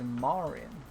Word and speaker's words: Marin: her Marin because apparently the way you pronounce it is Marin like me or it's almost like pronouncing Marine.